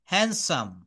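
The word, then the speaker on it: handsome: কিন্তু এটা ব্রিটিশ বা আমেরিকান উচ্চারণে হ্যান্ডসাম। হ্যান্ডসাম। এখানে ডিটা কিন্তু সাইলেন্ট।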